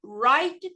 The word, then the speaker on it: write: E o verbo escrever, o W também é mudo.